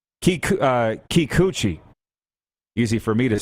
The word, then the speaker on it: Kikuchi: should learn to say his name you say kikuchi bingo the sports update this sports update for